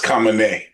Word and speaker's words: Khamenei: And I've been pronouncing his name wrong. It's Khamenei. It's Khamenei or Khamenei.